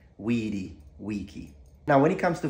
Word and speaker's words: vici: the Visa food on the C is pronounced CH because it's an Italian pronunciation so influenced by modern Italian but the ancient Romans said Wiki